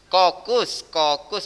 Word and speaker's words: kokus: Kokus bacanya K.